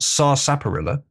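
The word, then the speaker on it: sarsaparilla: Sar Sapperilla being the correct pronunciation. If you can't handle it, that's how it's meant to be said.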